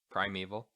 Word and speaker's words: Primeval: How do you pronounce it? Primeval.